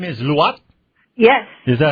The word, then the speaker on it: Luat: good okay so your last name is luat yes is that how you pronounce it Adrian getting all kind of troubles with the Filipino last name you got to understand her name is lat and she's about 4 and A2 feet tall